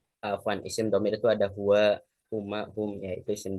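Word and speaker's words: هُوَ: Terus Allahu la ilaha illa huwal hayyul qayyum, tetap dibaca huwa. Tidak boleh kita ubah-ubah menjadi huwu atau huwi, itu tidak boleh karena huwa itu termasuk golongan kalimat yang tetap atau mabni.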